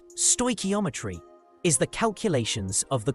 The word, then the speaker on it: stoichiometry: Stoometry pronounced stoeometry is the calculations of the quantities of reactants and products involved in a chemical reaction.